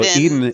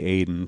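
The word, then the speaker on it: Ehden: Eden. It's spelled Aiden, E-H-D, but half of them say Eden and half of them say Aiden. So it's like whichever so they don't one. know how to pronounce it either.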